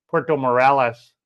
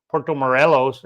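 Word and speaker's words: Puerto Morelos: the live stream and I'm pronouncing it uh Puerto Morales Morales. I was not you putting any emphasis on the O Porto Morelos and should actually roll the O or the R for that.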